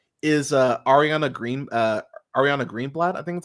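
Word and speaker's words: Ariana Greenblatt: I actually liked is uh Ariana Green uh Ariana greenblat I think that's how you say it uh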